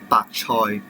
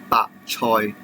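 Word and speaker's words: 白菜: Then it is some Chinese cabbage, and it's pronounced as 白菜, 白菜.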